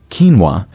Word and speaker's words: quinoa: eat quino every day quino pronounced quinoa has gained widespread popularity